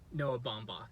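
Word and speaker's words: Noah Baumbach: did pretty good I don't know how to pronounce his name but it's um Noah bombach okay bombach okay but yeah they did a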